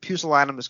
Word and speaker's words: pusillanimous: class to be the only student who could pronounce the word pucel animus correctly because I had heard Colin Baker deliver